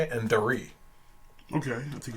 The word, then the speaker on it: Dari: I think is how you say it, and Dari. Okay, I think it's Dari. Dari, okay. It's Dari.